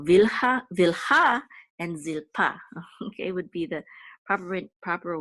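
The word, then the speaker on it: זלפה: which we'll say pa, zil pa. And this is the trope mark. So it says that the accent is on the last syllable, so it's zilpa, not zilpa, but zilpa. So vilha and zilpa, okay, would be the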